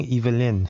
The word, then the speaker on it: Yvelines: Okay, so now I know I've been saying it wrong. Yvelines.